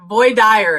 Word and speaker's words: voir dire: Yeah, voix dire is how they say it in South Georgia. It sounds very Southern though. It's very it's actually probably like it's the Cajun pronunciation, right.